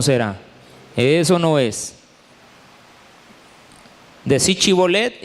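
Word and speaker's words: shibboleth: Porque dice la Biblia que ellos pronunciaban Chibolet, no Sibolet.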